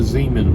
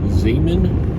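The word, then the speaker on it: Xaman: using for example we'll use xrp and the Zan wallet for those that don't know Zan is spelled x a m n used to be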